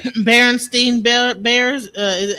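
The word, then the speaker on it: Berenstain: So they're saying it's Baron Stain.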